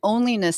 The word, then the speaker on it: onlyness: moment, is called an onlyness statement. So we go through this, and it's a branding. You said onlyness, like ONLY. Right. Onlyness. Okay. Yep. Rhymes with loneliness.